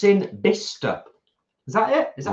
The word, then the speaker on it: Bicester: It's in Bicester. Is that it? Is that how you pronounce it? Bicester.